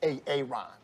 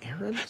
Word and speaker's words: Aaron: first time i said ay-ay-ron yes it's pronounced Aaron you done messed up